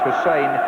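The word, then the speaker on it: Glenn Hysén: in his perfect English that his name is pronounced Hussein and not tyon but there's no introduction needed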